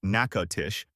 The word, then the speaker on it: Natchitoches: The town of Natchitoches, pronounced Natchitoches, a Mississippian word that the French kept when they founded the settlement in 1714, is the oldest permanent European settlement in Louisiana.